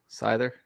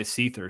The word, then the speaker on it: Scyther: Scyther. I was going to say Seether.